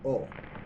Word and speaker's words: ho: Put an ATO at the end of the verb. It makes it past tense. Instead of guido, I drive, io guido, you say o, which is H-O. H is not pronounced in Italian.